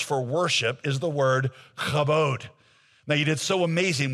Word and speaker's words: kabod: say it to sound like a real Hebrew speaker, okay? Kabod. Say it. If the person in front of you is not kind of wiping stuff off the back of their head, you didn't say it right.